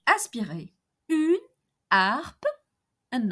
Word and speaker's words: harpe: So imagine that Mary owns a harp, une harpe, une harpe. H here is an aspirated H, H aspiré, une harpe, and not une harpe.